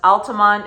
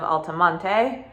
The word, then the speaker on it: Altamonte Springs: that is the pronunciation it is locally pronounced Altamont instead of Altamonte uh I don't know why I don't know why we don't throw on the E everybody always who's new to the area always pronounces it Altamonte which is totally normal